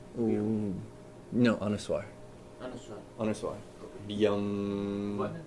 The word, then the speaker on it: Bhyam: Lakshmi Narayana Byam Nama.